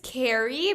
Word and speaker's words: Keyri: Her name is Carrie, but it's spelled Keyri. So I want to make Okay. sure I'm pronouncing it right.